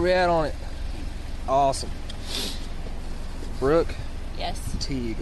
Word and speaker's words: Teague: Teague. Am I saying that right? Teague? Yes. Like baseball league. Teague like baseball league.